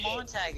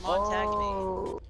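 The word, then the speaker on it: Montagne: It's not even Mon-tag. It's Mon-tag-KNEE. I said, oh Lord Jesus. Are you fucking? Mon-tag. That's how it's spelled, isn't it? No. It's Montage. Oh. So what's the N-E? Silent? It's French.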